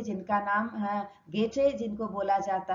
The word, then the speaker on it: Goethe: दार्शनिक थे जिनका नाम गेटे, जिनको बोला जाता है, स्पेलिंग GOETHE है बट प्रोनाउंसिएशन इज गेटे।